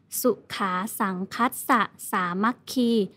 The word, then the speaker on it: สุขา สังฆัสสะ สามัคคี: สังฆัสสะ สามัคคี อ่าน ว่า สุขา สังฆัสสะ สามัคคี แปล ว่า ความ พร้อม